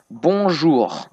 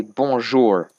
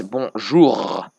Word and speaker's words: bonjour: They say bonjour, but they mess up the last syllable and they say bonjour. And I keep telling them it's bonjour, but they can't pronounce it.